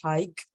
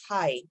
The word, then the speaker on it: high: you see this word the G is actually silent so you don't say hike don't push your uh the sound of G hike it's X it's just high so high just like high Okay so it's not hike but High the same